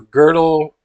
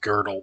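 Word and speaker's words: Gödel: do go Godel g-o-d-e-l I think it's pronounced girdle the girdle Escher but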